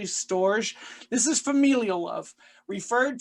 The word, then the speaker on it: storge: like a sound there i'll say so storage because maybe that's how you say it but it's actually storge this is familial love